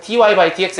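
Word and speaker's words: dy/dx: 이게 그냥 dy by dx 이렇게 읽습니다. 이게 나누기가 아니에요. 알겠죠? 그래서 dx분의 dy라고 읽지 않고 dy by dx 이렇게 읽는데 이 y라는 변수를 x에 대해서 미분한다.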